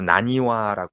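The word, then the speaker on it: 浪花: 한자로 그렇게 예 그렇죠 근데 랑화 한자를 썼어요 랑화 예 랑화 그거를 이제 일본 발음으로 나니와 하는 거 같아요 아 그럼 이게 원래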